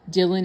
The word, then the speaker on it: Dhillon: Harmeet Dillon, and that's spelled Harmeet. Dillon is spelled Dhillon.